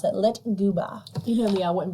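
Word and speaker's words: lyktgubbe: the Swedish believe the floating lights are called lit goba that is spelled l y KT g u BB e lit and I had to go online to like know how to pronounce it lit gooa you know me I wouldn't be able to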